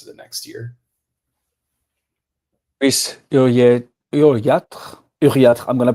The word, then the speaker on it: Uriarte: You would say in the in English you would say Uriarte, but maybe in some parts of France, maybe in Spain you say Uriarte or something like that. Spain, Uriarte.